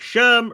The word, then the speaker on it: SHRM: and I would say Sherm rhymes with worm and they are both